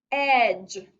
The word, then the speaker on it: edge: The next word is edge. Edge goes under Silent Dippy Duck because we hear the short E sound in edge.